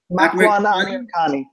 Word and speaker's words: Amirkhani: Amirkhani.